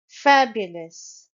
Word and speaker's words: fabulous: the most Splendid fashion fabulous it's a three syllable word and the stress is on the first syllable Fab fabulous and as you can